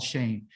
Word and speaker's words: Shem: know who they are shim is the name s-h-e-n right here Shem they call it Shin but the real name how pronounced he's called Shane and shame is name